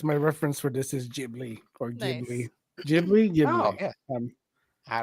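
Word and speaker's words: Ghibli: t-shirt gy jiy ji so it is jibli jibli as the Americans say pronounces it with a soft G okay I guess like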